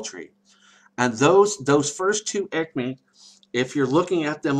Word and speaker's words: aicme: That's the first ekme, and to spell that, it's AICME.